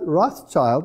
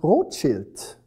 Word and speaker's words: Rothschild: the papal treasure now this word rothschild is of course a total mispronunciation it's a german word and it means rochelt and rot is red and shilt is a shield now who were the